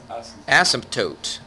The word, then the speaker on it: asymptote: Asymptote. Okay? It sounds weird putting that P in there, but I guess that's how you pronounce it.